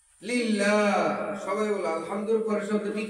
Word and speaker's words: لله: লিল্লাহ। সবাই বলো আলহামদুর পরের শব্দটি কি? লিল্লাহ। সবাই একসাথে উচ্চারণ করো, লিল্লাহ।